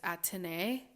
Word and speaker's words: Athénée: it Athénée or whatever, but I think the French pronunciation is Athénée. Athénée.